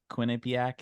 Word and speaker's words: Quinnipiac: first thing that pops up to me is Quinnipiac Quinnipiac is that how you say it oh yeah